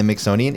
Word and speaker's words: Mixonian: the originator of The mixonian Institute yes which rhymes with Smithsonian everybody and so my maiden